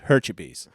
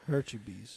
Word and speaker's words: Hurtubise: So this is Project Grizzly is the story of Troy Hurtubise, which I said his name wrong last week, but now I know it's Hurtubise. Hurtubise.